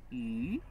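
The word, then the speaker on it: 鱼: Chinese fish and extra are both pronounced yu.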